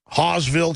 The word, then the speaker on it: Hawesville: This is InfoWarrior in Hawesville, Kentucky. I'm pronouncing that right, H-A-W-E-S-Villes, Kentucky.